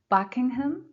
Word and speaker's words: Buckingham: Planetarium, third syllable. Buckingham Fountain. Buckingham Fountain.